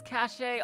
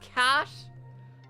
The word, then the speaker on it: cache: I've pronounced it as cache all my life. Now you're telling me it's pronounced cash? Like, what? Why have the fucking E?